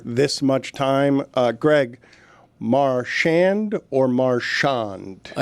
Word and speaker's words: Marchand: Marchand or Marchon? I say Marchon but uh Goldie says Marchand. Okay, so that means Goldie knows because he's asked him how he wants it to be pronounced.